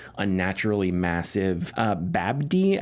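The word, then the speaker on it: Babbdi: Uh Babdy, I think it's pronounced Bab.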